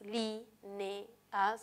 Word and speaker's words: líneas: Tiene 3 sílabas. Li, ne, as. Recuerden que la e y la a se separan. Y el acento está en li, que sería la antepenúltima sílaba, es esdrújula.